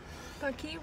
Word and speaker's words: Paqui: Paqui rhymes with hockey, is an Aztec word meaning to be happy.